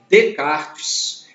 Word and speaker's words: Descartes: Tanto que no francês esse S não é pronunciado. Por isso que a gente fala Descartes.